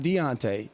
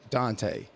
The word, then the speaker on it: Dante: I named him Maven Dante Archer, not Deontay, Dante.